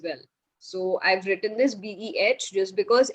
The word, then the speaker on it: B: So it is Beh. Okay, B-E-H, Beh. Can you repeat after me? Bay.